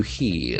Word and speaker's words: hear: The letter R is silent here.